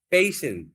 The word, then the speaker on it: patient: It's not like patient. You have to say patient. Patient. Patient. Stress on the first syllable.